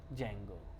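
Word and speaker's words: Django: जेंगो देखो डी जेंगो अगर आप बोल रहे हो कि डी का नाम क्यों नहीं बोले? डी साइलेंट होता है। इसको सिर्फ जेंगो बोलते हैं।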